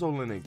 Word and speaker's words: Olynyk: It is Olynyk. No way, brother. He plays for the Spurs? Okay, yeah, it was Olynyk.